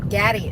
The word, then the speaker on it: Gaddis: It's Gaddis, but said like daddy. Gaddy.